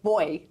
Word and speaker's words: buoy: First of all, the Brits say boy instead of buoy for some reason.